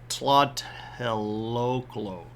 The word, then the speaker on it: Tlatelolco: Tlatelolco. Tlatelolco. And it's honestly like, if you break it down into syllables, it makes it a lot easier, because